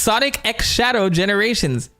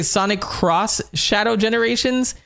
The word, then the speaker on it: Sonic X Shadow Generations: This could mean X. This could mean cross. Did you guys know Sonic Sonic X Shadow Generations? This is how it's pronounced. It's pronounced Sonic X Shadow Generations.